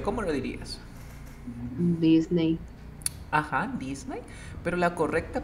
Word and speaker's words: Disney: Disney. Ajá, Disney. Pero la correcta pronunciación es así, mira. Disney.